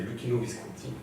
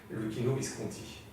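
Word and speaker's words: Luchino Visconti: y a quelques années, c'est d'insister sur la dernière syllabe. C'est Lucchino Visconti. Et ça va pas pour l'italien, parce que l'italien. Oui, non, mais par contre, tant pis pour la prononciation italienne, Lucchino Visconti. Parce que ça claque.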